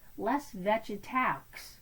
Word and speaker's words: Les Végétaux: it, it looks like Les Végétaux, but they don't pronounce the X at the end of the word, and it has much more flowy, pretty sound like les végétaux, basically the vegetables.